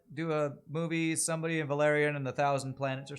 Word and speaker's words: Valerian: Stress on the second syllable. Valerian. Oh, it's Valerian.